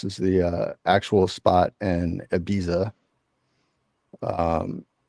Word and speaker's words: Ibiza: away, but this is the actual spot in Ibiza. No, it's pronounced Ibiza.